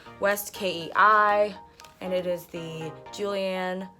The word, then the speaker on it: West Kei: one is by West key or west I never knew how to say this what is this it's West Kei and it is the